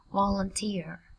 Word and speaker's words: volunteer: Volunteer. Trọng âm dần chữ thứ 3 các bạn nha.